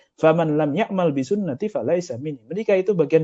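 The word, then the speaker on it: سنتي: An-nikahu, ada yang baca ini kan sin nun ta. Bacanya fathah tanwin fathah domah terus fathah lagi. Jadi an-nikahu santai. Makanya beberapa orang kok santai itu mungkin salah baca hadisnya. Bukan an-nikahu sunnati tapi an-nikahu santai. An-nikahu min sunnati.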